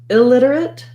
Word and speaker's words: illiterate: Then when we add illiterate, illiterate, it's just like literate with an ill beforehand. So you can kind of think about it like illiterate, illiterate. Maybe a little secondary stress on the ill if you're trying to really highlight illiterate versus literate.